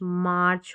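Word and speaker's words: march: तो आगे जो स्पेलिंग है ये है म, एम का साउंड म रहता है, म, और आर्च, मार्च हो गया।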